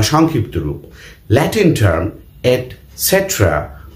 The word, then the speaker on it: etc.: ওকে, প্রথম ইন্টারেস্টিং ঘটনা যে ইটিসি ডট যখন আমরা বাক্যের মধ্যে লিখবো, এটসেট্রা লিখবো, তখন লিখবো ইটিসি ডট, কিন্তু উচ্চারণ করতে হবে এটসেট্রা। ইটিসি ডট উচ্চারণ করা যাবে না।